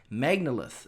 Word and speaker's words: Magnalith: music and is continuing to release music called Magnalith, if I believe I've pronounced that correctly.